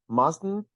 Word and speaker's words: mustn't: here that must not mustn't there is the pronunciation of what we like to call the nasal t it's actually very easy